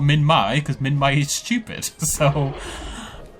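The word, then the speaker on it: Minmi: I accept that Min-My is correct. Okay, Min-My is the correct pronunciation.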